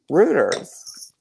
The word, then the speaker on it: Reuters: what i was saying i thought it was reuters it yes it rhymes with hooters rooters pieces wings they're selling